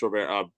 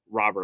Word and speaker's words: Robert: So good for Luis Rober. Robert, I forgot he wants to pronounce it that way.